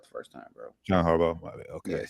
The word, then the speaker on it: Harbaugh: John Harbo.